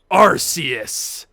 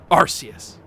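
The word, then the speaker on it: Arceus: this is the creator arus or archus I don't know I've heard it pronounced both ways um I can't remember how they pronounce it in the movie I've always pronounced it arus but like archus would make sense cuz it's like archaic um but my goodness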